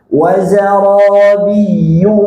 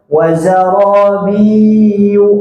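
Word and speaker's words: وَزَرَابِيُّ: Wazarabiyu mabsusah. Ayatnya tasyid biyu hentak biyu biu wariu nah gitu banyak yang bacanya lama jadi gini wazar biu ah hati-hati jangan biyu coba biyu wariyu mabsusah Kita ulang dari ayat berapa tadi?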